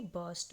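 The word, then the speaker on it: burst: बस्ट बस्ट बस्ट और यहां पर भी आर जो होता है ऑलमोस्ट साइलेंट ही होता है। तो इसीलिए यहां पे इसकी प्रोनाउंसिएशन होती है बस्ट।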